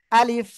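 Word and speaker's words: ألف: জোরে আলিফ মাশাল্লাহ দেখেন অনেকে কিন্তু এই আলিফটা উচ্চারণ করতে যেয়ে এমন উচ্চারণ করে আলিফ আলিফ আলিফ এরকম করলে কিন্তু ভুল হয়ে যায় যাবে ঠিক আছে কিরকম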